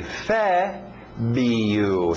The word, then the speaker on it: February: Agora esse mesmo final, January, February, sem esse R, como se o R não estivesse aí, ok?